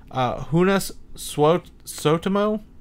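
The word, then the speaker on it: Joonas Suotamo: this guy he's from he's finished his name's pronounced unas Swope so to mow that's now that sounds like a Star Wars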